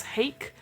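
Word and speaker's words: Haeck: another person called james hake rhymes with cake who is or who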